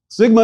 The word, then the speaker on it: Sigma: as you prefer Sigma Sigma is equivalent to s and pronounced as the s in sing not however that there